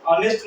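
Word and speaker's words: honest: है आदर्श ऐको क्या पढ़ेंगे हम लोग नेस्ट ऑनेस्ट मतलब ईमानदार इसको क्या पढ़ेंगे आवर आवर मतलब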